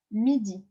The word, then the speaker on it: midi: It's midi, M-I-D-I.